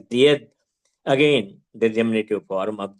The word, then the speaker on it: Ded: This Didda gradually became Ded, the diminutive form, pronounced as Died, again the diminutive form of Didda.